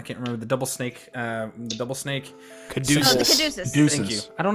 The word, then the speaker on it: caduceus: The not the is it catechus? Is that how you say it? I can't remember. The double snake. Caduceus.